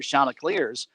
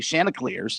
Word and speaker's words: Shauna Clears: guides and everything else they have the proper pronunciation for shauna clears because they have run into so many people who say shanna clears and they've gotten sick and tired of it and they want it to be branded shauna clears and they remind you constantly that's how it's pronounced but i don't know